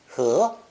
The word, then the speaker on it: 和: This new character is pronounced second tone, 和, 和.